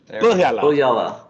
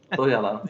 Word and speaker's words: Põhjala: Põhjala. Põhjala. Põhjala.